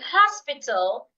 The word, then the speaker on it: hospital: In the word husband and hospital, the age should be heard.